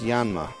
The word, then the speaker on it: Yanma: That's how you say it. It's Yanma. I know that because of the Pokemon.